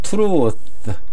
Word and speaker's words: truth: 그 다음 truth, 이 th는 이 th는 혓바닥을 내밀어서 물은 모양입니다. 이게 이 가운데 있는 게 혀예요. 그리고 이로 물은 모양입니다. truth, 우리나라 말에는 없는 발음입니다.